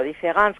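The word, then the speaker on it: différance: En francés no se advierte, différence con E o différence con A suenan exactamente igual y solo se diferencian en la escritura.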